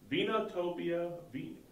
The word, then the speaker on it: Vinotopia: Vinotopia. V-I-N-O-Topia. Vinotopia. Like Vino. Vino wine, is wine. and Topia. Topia is like utopia. The perfect wine.